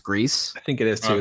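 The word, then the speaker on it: Gris: of you have grease it's spelled GRI ass but I think it's pronounced grease I think it is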